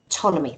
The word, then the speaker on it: Ptolemy: the complicated calculations that, how do you say, is it Ptolemy? I never get his name right. Ptolemy. Ptolemy, thank you. Ptolemy wrote about, and thereby actually drawing up a chart.